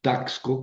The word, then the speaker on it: Taxco: Por ejemplo, en Taxco ponemos taxco con X, pero pronunciamos CS. Taxco.